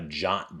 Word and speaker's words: JWT: server to get a jot back the jwt or json web token not sure is why it's pronounced jot as opposed to whatever but that's going to